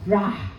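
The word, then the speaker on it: רע: In Hebrew, this is the word rah. A-R-A-H. R-A-H. Ya, pronuncia conmigo ra.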